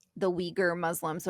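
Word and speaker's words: Uyghur: So, it's the Weaguer the Weaguer Muslim. So, it's it's a funny pronunciation, but um no, it's fine.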